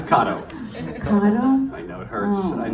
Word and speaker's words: Cotto: No, but how do you really pronounce it? From now on, Cotto. Starting right now, it's Cotto.